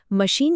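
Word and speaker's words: machine: मशीन शब्द French से आया है। और इंग्लिश ने उसका प्रोनंसिएशन वैसे का वैसा ही रख लिया। इसीलिए यहां आई की साउंड लंबी ई जैसी है।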